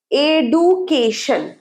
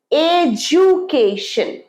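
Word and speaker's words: education: তাহলে আমরা শিখে নিলাম কমফর্টেবল আর ওয়েনসডে এরপরেরটা এডুকেশন শিক্ষা এডুকেশন ভুল উচ্চারণ ইংরেজি শব্দটা ডি হলেও লেটারটা ডি হলেও এটা ভুল তোমরা যদি এইটা বলে থাকো ভুল এটা হবে এজুকেশন তোমার শিক্ষা মানে তোমার স্কুল কলেজের শিক্ষা প্রাথমিক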